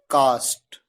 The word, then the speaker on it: caste: Next CAST और CASTE दोनों words को बोलने का तरीका बिल्कुल सेम है, कास्ट।